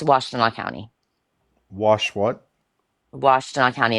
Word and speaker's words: Washtenaw: It's Washtenaw County.